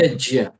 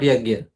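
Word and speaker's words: यज्ञ: Why put a j there if you are not going to pronounce it?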